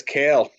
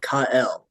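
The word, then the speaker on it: Cael: building that program up look at this kale so what's funny he doesn't pronounce it that way they said he pronounced it kael like Superman Oh kael Valencia is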